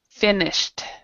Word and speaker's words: finished: So, but then you have this word right here doesn't have the ed sound, so this would be finished. Finished. So it's a kind of a TD sound there.